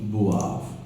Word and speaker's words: boivent: last one is ils boivent and elles boivent. You got it? ENT in verb is always silent. Don't forget this rule. ENT in the ending of the verb are always silent.